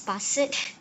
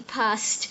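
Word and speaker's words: passed: a s e d some people tend to say as pass it but it's actually past so that's what they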